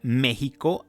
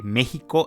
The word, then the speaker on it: México: Además, cabe señalar que México es la versión castellana. La X originalmente en náhuatl se pronuncia como sh.